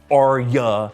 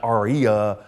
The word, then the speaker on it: Arya: My life just isn't complete without people tweeting me that the name is pronounced Arya and not Aria.